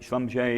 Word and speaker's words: Schlumberger: family that started it Sanjay is these two brothers Emilia and Conrad they come from the Alsace region which is why their name looks German but is pronounced in a French way and they started in